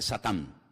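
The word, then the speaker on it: שָׂטָן: que viene del hebreo en hebreo no se dice Satanás dice satán que significa adversario y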